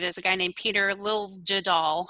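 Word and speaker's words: Liljedahl: a guy named peter lil jadal i think is how you say it and um the idea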